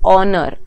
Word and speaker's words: honor: say honor we say honor o is the first sound so and so what does my exception say that if my noun is beginning with h but when speaking that H is silent we use and before